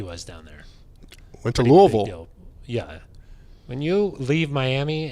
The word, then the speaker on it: Louisville: You're closer than someone who says Louisville. Yeah, that's not. Louisville, no. Louisville, no. Louisville, yes. Lowell.